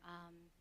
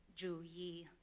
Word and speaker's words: Youyee: And so her name um, in English would be pronounced Dr. U but in green mong that is Dr. Jua and I hope I did that correctly.